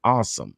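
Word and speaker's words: Asim: offensive tackle awesome Richards now they say he pronounce his name I kept saying I see him but they say pronounce his name awesome so I don't know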